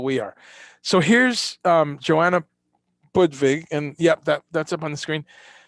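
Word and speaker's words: Budwig: Budvig. Budvig, right? You say it like a V, Sabina?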